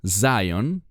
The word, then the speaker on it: Zion: Bueno, la palabra Sion, que en inglés se pronuncia Zion, esa palabra es una palabra de reino.